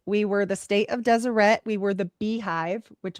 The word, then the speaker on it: Deseret: He wants to have an independent state, the state of Deseret. All right. And the beehive. Did you say Deseret? I did. Spell that for me.